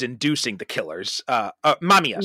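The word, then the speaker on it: Mamiya: um this idea that myama who is the the the killer in it or you know the one who's inducing The Killers uh uh mamia sorry mispronounced his name um mamia yeah but he's he's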